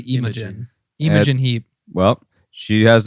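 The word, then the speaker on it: Imogen: every time I see I see IM aene but it's actually imin imin Heap well she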